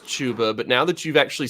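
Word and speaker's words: Chuba: that's just my favorite name and so like Java for Heisman yep I don't care that it's actually pronounced tuba I did yeah like I was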